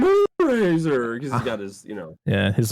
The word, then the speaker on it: Moonracer: So was it King Moonraiser? It's literally his name. Because Charlie says it's King Moonracer.